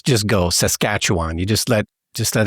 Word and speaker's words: Saskatchewan: no I can't but for future reference it's emphasis on the second syllable and you just let everything else just go Saskatchewan you just let just